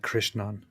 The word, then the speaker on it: Krishnan: It is more like Krishnan, but yeah. Krishna. Okay. Krishnan, not like the ah is like a ah, Ah.